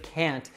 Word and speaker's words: can't: Now, usually we only pronounce that T sound at the end of can't if it's at the end of a sentence or we want to clarify or add more emphasis.